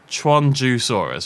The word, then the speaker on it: Qianzhousaurus: So next up, it's, if I remember correctly, Qianzhousaurus, right? That's how you pronounce it.